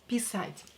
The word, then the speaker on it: писать: Pay attention to the stress. Here, A is stressed, not E. If you will stress E and you will say писать, that would mean to pee. Here we have to stress A, to the meaning to be to write.